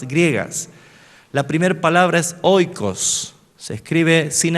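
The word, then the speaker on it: οἶκος: por dos palabras griegas la primer palabra es oicos se escribe sin h o I K o s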